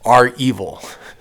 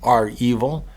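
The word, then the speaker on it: REvil: I think that's pronounced R-Evil.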